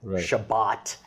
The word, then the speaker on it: Shabbat: my grandparents would say shabbos that's an ashkenazi right sound shabbat right is the sephardic sound it's kind of ironic